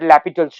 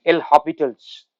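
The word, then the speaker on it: L'Hôpital: so i'm going to use that lapital's rule l hospitals sometimes pronounces so limit x goes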